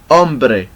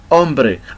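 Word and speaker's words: hombre: find this letter in the example of ombre ombre and by the way this letter is silent doesn't have any voice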